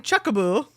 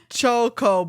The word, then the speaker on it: Chocobo: This how do you pronounce I've been saying chuckaboo since I started playing the series as a kid and just recently realized how wrong that is. Chuckaboo is kind of cute though. Chocoo.